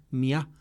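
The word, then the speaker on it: μία: Y es la costumbre de, digamos, de acentuar ese, de volver aguda la palabra, que es donde pues decir, el acento disolvía el diptongo y pronunciaban mía.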